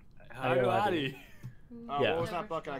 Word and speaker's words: Ayoade: David, how do you pronounce his name? Ayoade. Ayoade.